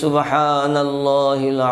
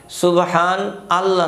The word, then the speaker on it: সুবহানাল্লাহ: আমি আবার বলছি, সুবহানাল্লাহি ওয়া বিহামদিহি, সুবহানাল্লাহিল আযীম ওয়া বিহামদিহি আস্তাগফিরুল্লাহ, এটা একশোবার পড়বেন। এখানে একটা বিষয় লক্ষণীয়, সুবহান আল্লাহ নয় শব্দ। সুবহান আল্লাহ যদি কেউ বলেন মারাত্মক ভুল হবে, সুবহানাল্লাহ, সুবহানাল্লাহ শব্দটা সঠিক উচ্চারণ করতে হবে।